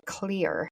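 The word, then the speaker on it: Xlear: like the brand called clear it sounds like the word clear that's how it's pronounced but it's spelled with an X instead of a c so it's spelled x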